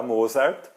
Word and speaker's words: Mozart: famoso compositor Mozart Mozart eu sei que você ouviu muita gente falar Mozart tá esse é o jeito brasileiro de dizer mas eh como ele nasceu na ustria eh e lá se fala alemão Então o jeito correto é dizer Mozart Mozart bom continuando a gente